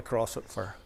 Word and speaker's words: Croisset: Now, the Crossett was a French vessel, and I think it's pronounced Croisset, if I'm not mistaken. But we call it the Crossett in our Irish way.